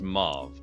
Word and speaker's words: Mauve: I also need athletics from Liari, and it is pronounced Mauve, correct? Yes.